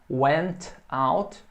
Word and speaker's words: went out: Went out. Você pode pronunciar o T bem forte aqui. Went out. E você fala mais devagar, vai ficar went out, went out.